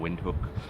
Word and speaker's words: Windhoek: ND h o EK it's a german name so the w is usually pronounced with a v sound input but there's several